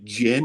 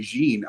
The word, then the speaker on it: Jin: name is uh G I think it's pronounced Jin it's j i n and since I'm Jim I'm I'm pronouncing it that way it could be jeene I don't know but the the the